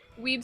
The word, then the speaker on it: weeb: that's W-E-E-B, right? That's how you say it? Oh, so weeb.